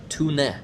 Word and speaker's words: Tone: Yeah, she's Norwegian, so you pronounce her name Tune.